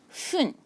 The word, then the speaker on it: 分: And you will pronounce it as fun.